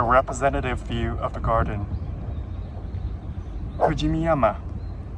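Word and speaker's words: 富士見山: Fujimiyama. Sounds a lot like Fujiyama, the Japanese name of Mount Fuji, mispronounced by lots of non-Japanese.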